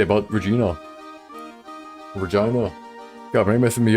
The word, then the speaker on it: Regina: Akro doesn't seem to have very many nice things to say about Regina.